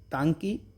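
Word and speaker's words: Ntangki: में बात करते हैं टंकी टंकी ठीक है तो टंकी टंकी टंकी नेशनल पार्क है यह नागालैंड में ठीक है एन से नागालैंड एन से एन टंकी एन साइलेंट है टंकी ओ अब उड़ीसा की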